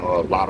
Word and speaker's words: Latto: that out of all of them I'm saying lot was number two that's how you say her